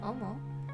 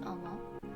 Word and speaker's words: 思: this means to think the first kanji is pronounced omo and the second character is the hiragana the